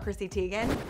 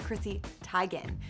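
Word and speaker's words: Chrissy Teigen: her name is not Christy Teegan her name is Chrissy Tigan she revealed it last night at the Emmys on the carpet that everyone has been saying her name wrong the whole time but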